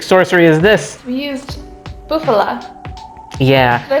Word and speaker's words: bufala: We used bufala.